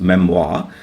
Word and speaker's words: memoir: പക്ഷേ കുറേ വാക്കുകൾ ഇപ്പോഴും ആ ഫ്രഞ്ച് സ്പെല്ലിങ്ങും ആ ഫ്രഞ്ച് ഉച്ചാരണവും ഒക്കെ ആയിട്ട് തന്നെ അവശേഷിക്കുന്ന കുറേ ഫ്രഞ്ച് വാക്കുകൾ ഇംഗ്ലീഷ് ഭാഷയിലുണ്ട്. അതിലൊന്നാണ് ഈ മെംവാ എന്നുള്ള വാക്ക്.